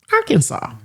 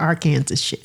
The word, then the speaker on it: Arkansas: In Arkansas, it is illegal to mispronounce Arkansas.